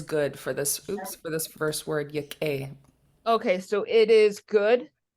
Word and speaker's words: Yakʼéi: okay, Yak'éi. so your A is pronounced more as an E.